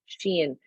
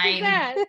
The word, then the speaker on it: Shein: things I did before my first envelope of Shein.